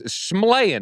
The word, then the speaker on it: Shyamalan: How do you say his last name, by the way? Shyamalan. Shyamalan. Oh, wow. Actually, yeah, it's Shyamalan.